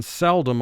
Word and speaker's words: seldom: pronunciation of a word we put the emphasis in seldom on the first syllable seldom do you hear